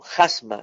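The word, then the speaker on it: χάσμα: Ahí la palabra cima, en el griego es jasma, anótelo, jasma, se escribe Jasma, acento en la primera A, jasma, cima.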